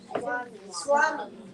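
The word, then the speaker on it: स्वामी: Or for example, the word Swami. No, if you say Swami, it sounds like you're from East Europe. So actually, yes, everyone pronounced like a W. Swami.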